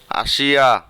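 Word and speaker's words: آسيا: কিভাবে আরবিরা একটু চেঞ্জ করে বিকৃতভাবে উচ্চারণ করে তা আমরা শিখব। আসিয়া, এশিয়া।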